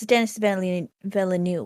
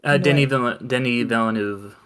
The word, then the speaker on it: Denis Villeneuve: it, like Dune definitely, and is it that's Dennis Villeneuve. Denis Villeneuve. Yeah, Denis Villeneuve. I can never pronounce it.